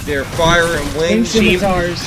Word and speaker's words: scimitar: We're saying it wrong. Scimitars. Scimitars. That's yeah, there's an M. I was like, Yeah. it's a real hard M and an I is harder. So it's scimitars.